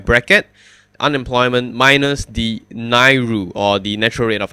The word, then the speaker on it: NAIRU: will call it an AI ru which is pronounced as NAIRU so you can use the term NAIRU to